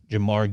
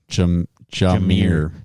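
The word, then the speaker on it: Jahmyr: And then the last leg is Jamar Gibbs under 39.5 rushing yards. Say his name right. Jamar? Jameer. Jameer Gibbs.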